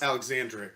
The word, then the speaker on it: Alexandri: is Alexandri though yes Alexandri Alexandri yes four syllables but he also goes